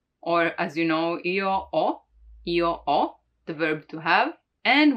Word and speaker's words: ho: Now, the H is always mute in Italian, so you don't pronounce it, like in hotel, hotel, or as you know, io ho, the verb to have.